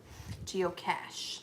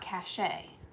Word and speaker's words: geocache: But geocache, like Johnny Cash. Cash, cash, cash. It's geocache. Oh, the geocache family. Not cache.